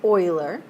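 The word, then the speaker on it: Euler: a Swiss mathematician by the name of Leonard Oiler that is pronounced Oiler um and this guy Oiler was sort of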